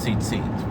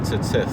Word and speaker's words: tzitzit: the tzitzis tucked in, the tzitzit, as they would pronounce it, even though it's probably the more proper way to pronounce it with tzitzith. It's not an emphasized yud there.